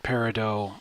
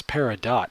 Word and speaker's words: peridot: Ruby patrol agates float peridot and I know what you Steven universe fans are thinking it's peridot not peridot either pronunciation is legitimate the Lightning enemy that's